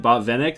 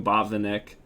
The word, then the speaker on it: Botvinnik: to because i heard i heard um hikaru pronounced his name bob vinnick so i'm assuming that that's correct but i've always been calling him bob the nick i don't know if